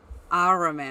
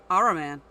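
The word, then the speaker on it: Ahriman: See if I can pronounce it. Araman. That's it? I thought that was more complicated than that. No. Araman.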